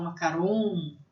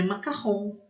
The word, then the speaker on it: macaron: As pessoas às vezes falam macaron, ou às vezes até com uma pronúncia em inglês, né? Macarons, mas é macarrão.